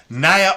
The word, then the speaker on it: Naya: I like that she put her name like that because I wasn't sure how to pronounce the first name, but when I saw On Fire, I was like, it's got to rhyme. It's Naya.